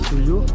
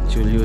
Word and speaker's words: Chullyu: फिर से आप बोले तो ये बस्ती का नाम चुल्यू। चुल्यू ना, क्योंकि हम लोग बोलते थोड़ा सा प्रोनाउंस ठीक नहीं लगता है फर्स्ट टाइम है, तो गलती भी बोल देगा इसके लिए।